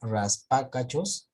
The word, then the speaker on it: raspacachos: Fabricio, porque mira, acá, si tú dices acá raspacachos, entonces la mayor fuerza de voz sería en la pa. Eso quiere decir que si contamos, ¿cuántas sílabas tiene? Entonces, última, chos, penúltima, ca, antepenúltima, pa. Y si sería ahí la pa, y es una antepenúltima, eso significa que es una esdrújula.